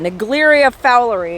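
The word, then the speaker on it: Naegleria fowleri: warning you about negleria fowlery that's how you pronounce that negleria fowlery it's an amoeba common to Thermal pools but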